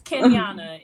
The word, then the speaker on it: Kenyanna: pronouncing names i understand it's kenyana it's exactly how it's spelled ken miana okay perfect